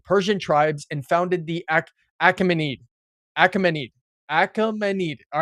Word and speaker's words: Achaemenid: Great unified the Persian tribes and founded the Achaemenid Achaemenid Achaemenid. All right. It's It's spelled a c h a e m e n i d. Achaemenid. Achaemenid. Achaemenid. Achaemenid. Achaemenid.